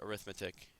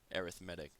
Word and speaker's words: arithmetic: Well, when this is a noun, it's arithmetic. But if it's an adjective, if it's describing something, you say it arithmetic. So yeah, it's spelled the same way, but it's a different word.